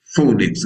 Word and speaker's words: phonics: Everything is phonics, but phonics is a P and an H, and it makes the sound phonics, eh?